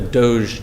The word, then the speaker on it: DOGE: I'm from West Virginia, and I think the part that of West Virginia I'm from, we would call it dog or doggy or something.